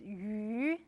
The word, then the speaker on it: 鱼: The pronunciation of fish is 鱼.